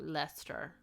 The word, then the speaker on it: Leicester: Leicester.